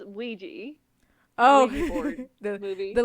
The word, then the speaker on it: Ouija: Um then there is um Uh, my sister pronounce it with the Spanish pronunciation every single time. And it's Aea. It's Ouija.